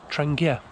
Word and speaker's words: Trangia: since i've used the trencher i love transgear stuff apparently it's pronounced trangia so i'm going to say trangia from now on i really love it